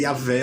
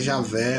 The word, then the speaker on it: Jeová: Alguém diz que é Yahvé, outro diz que é Javé, outro agora está dizendo que é Jeová.